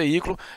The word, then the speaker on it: veículo: A regra que justifica aí a acentuação da palavra veículo é o fato desse I, né, que está aqui acentuado, constituir um hiátono, constituir sílaba sozinho e ser tônico, beleza?